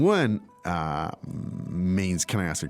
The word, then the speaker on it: 问: So, anyway, so remember, 问 is the fourth tone. It's pretty strong.